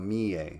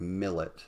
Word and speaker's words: Millet: is this artist, Jean-François Millet. It looks like millet, but the French pronounce it Millet.